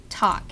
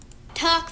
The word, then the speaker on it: talk: second what's up talk for so here's our waveform for "talk" If you're familiar with the English spelling of talk it's "T A L K" but we don't pronounce the L.